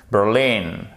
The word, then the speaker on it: Berlin: Et vous voyez, c'est pas Berlin, c'est pas Berlin, non, c'est Berlin. Accent tonique sur la seconde syllabe.